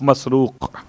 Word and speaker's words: مسروق: حجاج کے والد کا نام ہے مسروق. 3 تلفظ ہیں الگ الگ الفاظ کے اعتبار سے، مرزوق، مسرور اور مسروق. میم سین رے واو قاف مسروق.